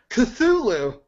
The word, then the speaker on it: Cthulhu: How do you pronounce that? Cthulhu.